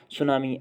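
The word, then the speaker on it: tsunami: जैसे कि हम पढ़ते हैं भूगोल में सुनामी शब्द, उसको इंग्लिश में लिखा जाता है टी से स्पेलिंग स्टार्ट होती है लेकिन पढ़ते हैं सुनामी।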